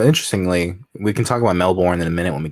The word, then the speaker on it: Melbourne: that they can only ever say it as male born you watch Jason porn once and your fingers pronounce it so it's a Melbourne it's Melbourne alright I I will not forget that now